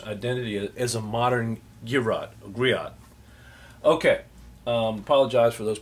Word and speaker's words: griot: ter the girro uh which you would pronounce um griot I'm sorry g r i o t despite endures maternal collection